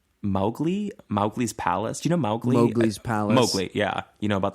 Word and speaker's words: Mowgli: mowgli's Palace you know mowgli's Palace yeah you know about that no mowgli's Palace was obviously from The Jungle Book Mowgli that's how you say it Mowgli yeah Mowgli um Disney